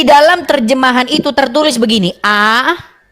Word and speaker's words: Allah: A-L-L-A-H. Dibaca Allah.